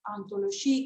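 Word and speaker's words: hantologie: yo ahí les mencioné, el término escrito primero con H, digamos el término francés, ontologie, que se pronuncia igual que ontología, ontología, ese término es traducido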